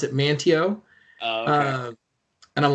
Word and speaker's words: Manteo: i was like it looks like like uh manteo is like because like i've we live worked in quincy for so long but they pronounce it manteo and i'm like oh there you go you